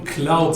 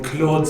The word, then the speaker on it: Claude: So this is what we call cloud syndrome or Claude syndrome, depending on your pronunciation.